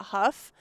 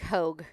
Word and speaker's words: Hough: just at dot huff and my name is spelt kind of funky i'm sure you'll probably touch it it actually looks like hogue yeah like i keep